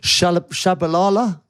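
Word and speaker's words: Tshabalala: The unbelievable was it Shabalala?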